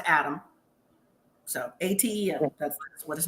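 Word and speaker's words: Atem: Little baby named Adam, spelled A-T-E-M. Yes. I guess it's pronounced Adam.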